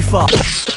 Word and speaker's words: Foxx: Jamie Foxx. Nobody picks that one. Why didn't you pick this? Jamie Foxx's last name has 2 X's in it. The first X is silent.